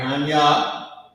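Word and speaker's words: Ahnya: Anya, that's how you pronounce this word. A-H-N-Y-A.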